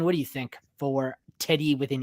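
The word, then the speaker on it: Teddye: It's Teddy, right? Even though it's got an E at the end. Teddy.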